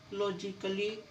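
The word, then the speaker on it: logically: Double L वाई आए, जब भी ए के बाद डबल एल वाई आएगा तो आपका ए साइलेंट होगा। फिजिकली, लॉजिकली, म्यूजिकली, ए है और ए के बाद डबल एल वाई आया हुआ है तो ए साइलेंट।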